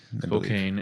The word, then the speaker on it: Spokane: Up in I never know how to pronounce it, Spokane. Spokane.